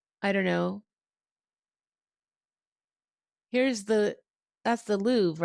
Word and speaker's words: Louvre: Here's that's the Louvre, right?